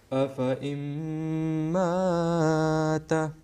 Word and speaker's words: أفإن مات: You know, the first excessive Alif will be dropped, but the second word Mata, this Alif will be pronounced.